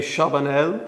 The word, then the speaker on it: Charbonnel: Uh François-Xavier Chabanel, Yeah, long French name. do you pronounce the L at the end? The L at the end. Chabanel, yeah.